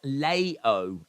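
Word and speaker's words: Leão: Portuguese player said Harris it's pronounced Leo Lei oh is that how you pronounce it Leo I think that's the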